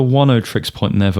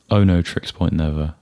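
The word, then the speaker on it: Oneohtrix Point Never: way oh yeah uh it's either 10 tricks point never or Ono tricks point never I think some people debate about I've always thought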